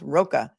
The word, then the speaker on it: Rocca: Also, Steve Roca, her ex-husband, ROCCA, is pronounced Roca.